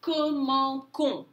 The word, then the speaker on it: commençons: When you have a C next to an O, you're going to get a hard C sound. Nous commençons.